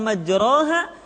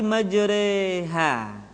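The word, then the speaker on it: مجراها: Jadi huruf ro yang berharakat fathah dibaca miring ke kasrah sehingga bunyinya bukan majroha tetapi majreha.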